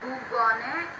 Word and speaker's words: Bourgogne: This G is silent. Whenever G comes before N, that becomes silent. Le Bourgogne. We are not speaking this G.